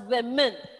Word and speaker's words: women: it is children okay the spelling of it is w o only the inside vowel may change but the pronunciation of that word is women okay you're not there